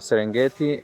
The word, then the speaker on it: Serengeti: Serengeti, yeah. But the first person mispronounced it Serengeti, and now Okay. the word Serengeti is official.